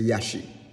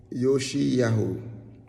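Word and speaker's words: Yoshiyahu: Moreh Yoshi Yahu's name, I say Yashi, which is wrong, and my wife reminds me about that. So please forgive me, Moreh. Moreh Yoshi Yahu.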